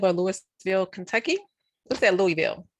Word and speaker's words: Louisville: What's that, Louisville? How do you pronounce that, Jeron?